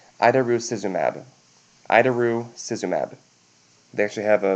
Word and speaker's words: idarucizumab: If they come back with a potential for bleeding risks, with a trauma or something, then we can give them the antidote, which is pronounced idarucizumab.